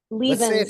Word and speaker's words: Lievense: Leven like it's like Stevens. Levens like Stevens.